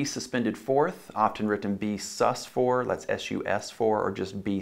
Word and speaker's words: sus: 4th often written be sus4 let's sus4 or just be sus be s us not sustained not sue says in dr. Seuss as some students are mispronounced over the years s you asked for